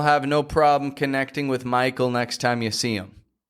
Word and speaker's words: Michael: Just get the I nice and clear.